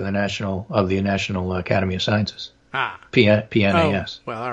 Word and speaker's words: PNAC: And I have always argued that the C in PNAC is for century, and that's a soft C, and century should be pronounced correctly, and it's PNAS, not PNAC.